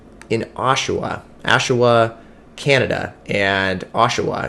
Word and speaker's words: Oshawa: oshawa oshawa canada and oshawa is how you say i believe and it's just so